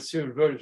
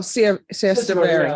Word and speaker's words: Siesta Verde: I have a connection with Ramon Sanchez over at Sierra Verde Towers. Siesta Verde? Oh, Siesta Verde. I pronounced it wrong, yeah.